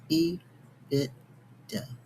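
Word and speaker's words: EBITDA: The bit I t is pronounced bit. And d a is duh. E bit. Duh.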